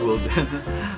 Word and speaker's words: Wilden: Pronounced as Wilden.